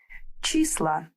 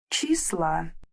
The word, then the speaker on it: числа: In plural, we replace letter O with A. Числа. Число. Числа.